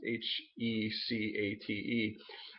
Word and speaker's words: Hecate: Used to be called Hecate, I believe is how it's pronounced, Hecate.